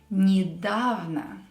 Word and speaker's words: недавно: The second letter, the ye letter here, is pronounced as e. Why? Because it's not stressed. When ye is not stressed, we will pronounce it as e. Недавно. So don't pronounce it as недавно. It's incorrect. Недавно, recently.